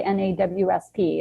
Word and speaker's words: NAWSP: sales professionals when you when you say the acronym how do you say it or do you just say n-a-w-s-p or do you like